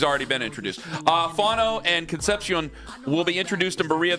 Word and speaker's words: Concepcion: Well, no, I was saying Concepcion correctly, and then somebody here is like, you're not saying it right, it's Conception. And then I said Conception, and people were like, no, Ken, you're saying it wrong.